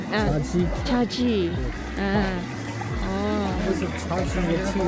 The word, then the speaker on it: Shaxi: Oh, look, Chaji. Let me ask. How do you pronounce this one? This one? Shaxi.